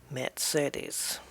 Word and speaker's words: Mercedes: Mercedes. That's the pronunciation lesson for today.